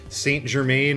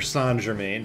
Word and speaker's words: Saint Germain: specifically now about Hector, Saint Germain, or Saint Germain, depending on which accent you're listening to, Carmella, kind of, and Morana and Striga, or Striga.